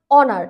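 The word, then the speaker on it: honour: এখানে এইচ এর উচ্চারণ কিন্তু হচ্ছে না।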